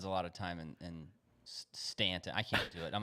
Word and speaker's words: Staunton: it looks like no it's Stanton don't you dare say Staunton it's s-t-a-u right stunt it's Stanton that's I I thought they pronounced it they pronounce it Stanton yeah well they're I